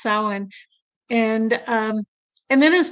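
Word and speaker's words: Samhain: If you see Sierra she does Sam Hayne that's how it's spelled but it's actually pronounced sin.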